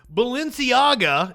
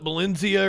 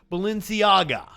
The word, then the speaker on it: Balenciaga: if you wanted like Balenciaga and have I been have I been saying it right have I I think I called it Valencia or some the entire time I don't know the